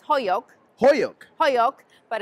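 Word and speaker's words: Holyoke: us a little bit about did you say Hoke Massachusetts well actually I'm not pronouncing it right it's hoyo hoyo hoo but it's spelled h o l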